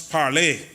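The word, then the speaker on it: parler: Speaker the word Parliament comes from a French word parlay pronounce parlay which means talk and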